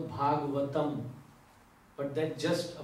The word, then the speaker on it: Bhagavat: Bhagavata. In English, many people call Bhagavatam, but that's just a pronunciation. The exact is Bhagavat. Just like Radha and Radhe.